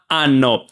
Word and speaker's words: hanno: In Italian, the letter H is silent. So, o, i, a, anno, they are pronounced like this: o, i, a, anno.